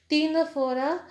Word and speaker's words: Ctenophora: Phylum Porifera, first one is phylum Porifera, phylum Coelentrates or called as Nididia, phylum Ctenophora, C is silent here, phylum Ctenophora, phylum Platyhelminthes, phylum Ascalminthus, phylum Annelida, phylum Arthropoda, phylum Mollusca, phylum Echinodermata, phylum Hemichordata, and phylum Chordata.